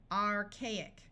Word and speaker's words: archaic: These A's and this O are going to have their long sounds. Archaic.